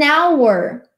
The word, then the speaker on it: hour: E o H ali, ele vai dar o som de vogal. An hour.